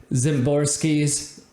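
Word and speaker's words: Szymborski: so Zips is uh zimorski uh projection system ironically zimorski Dan zimorski it's named after Dan zamorski uh whose last name actually starts with an S but he it's pronounced with a z and so he calls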